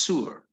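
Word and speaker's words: صور: J yeah Ty Ty which in Arabic is pronounced Sur so if people if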